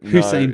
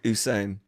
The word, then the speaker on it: Usain: I think doing a bit of uh Hussein B. I I'm I'm okay with that. Did you say Hussein? It's It's actually pronounced Usain.